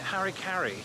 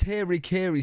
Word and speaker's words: Harry Carey: You know, those words, because we don't have the merger of Mary, Mary, Mary. So it's very hard for me to say his name and to get it right in the way I speak.